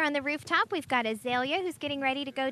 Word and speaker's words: Azalea: Now, how do you pronounce it? Because in Georgia, where I come from, it's Azalea. Azalea. Azalea. AJ, You put whatever. a hard L in it.